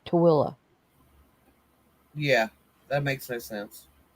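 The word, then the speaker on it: Tooele: I mean, it's called it's T O O E L L E and it's spelled it's pronounced Tilla. Yeah, that makes no sense. Instead of tuli, it's Tilla.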